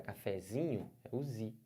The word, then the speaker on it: cafezinho: sílaba tônica da palavra cafezinho cafezinho pode forçar a vontade cafezinho cafezinho força bastante e você vai ver que fica legal aqui então o z é a sílaba tônica dessa palavra Mas tudo bem E